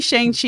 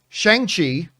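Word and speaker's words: Shang-Chi: chinese characters would indeed in mandarin chinese be closer to shong just like the name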